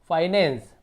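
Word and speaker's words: finance: extra विजेंस फाइनेंस फाइनेंस जैसे फाइ पढ़ेंगे एफ आई एक साथ है तो फी नहीं पढ़ेंगे फिनेंस नहीं पढ़ेंगे फाई पढ़ेंगे फाइनेंस फिर उसी प्रकार से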